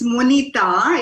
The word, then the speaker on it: Monita: Is it Monita? How do you pronounce it? It's Monita.